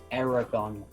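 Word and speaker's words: Eragon: Aragon. Aragon. It's like dragon, but with an E instead of a D.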